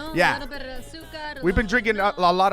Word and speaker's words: azúcar: Roll your R's. Asukra. No. Azúcar. Azúcar. Azúcar.